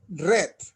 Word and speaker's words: read: se pronuncia diferente rip red en pasado se pronuncia como el color rip rip rip red